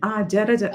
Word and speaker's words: जर्जर: At one place, the R was not complete. Jara, jara. Next line. Do the next line. Okay. But one second. यावद्वित्तोपार्जनसक्तः तावन्निजपरिवारो रक्तः पश्चाज्जीवति जर्जरदेहे वार्तां कोऽपि न पृच्छति गेहे Jara, jara. Not जर्जर jara, jara, dehe.